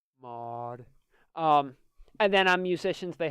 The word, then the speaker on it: Maud: Doctor, you said it wrong. It's Maud. Maud.